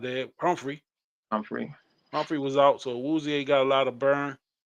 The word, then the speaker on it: Awuzie: Awuzie, is that how you say his name?